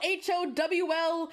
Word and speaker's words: Howl: Sophie hears it, but it's howl. Like like his name is Howl. Like that. It's not how like like a wolf howls at the moon.